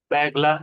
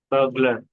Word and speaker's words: burglar: गलती answer Bagla, बैगला, इस तरह बैगला, प्रोनाउंसिएशन है इसका। burglar, बर्गलर इस तरह से। burglar, तो बर्गलर ऐसे है वो।